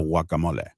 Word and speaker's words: guacamole: You see, you were putting the emphasis. You were emphasizing the beginning of the word instead of the end.